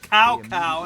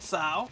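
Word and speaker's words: Cao: And when Kowokcowo called upon them to take Oh man, I forgot about the old pronunciation where it said cow instead of Sao.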